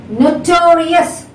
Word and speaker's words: notorious: So before the 3rd syllable, you have to stress. That means the 2nd syllable has to be stressed.